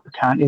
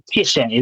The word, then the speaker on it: Piacente: The problem that I had with it is I learned from is it Sal Picante, the guy's name is? Yeah, Sal Piacente. Okay, good. Piacente, there we go.